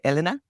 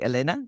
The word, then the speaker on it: Elena: Some people say Elena. I say Elena, which is the Spanish pronunciation.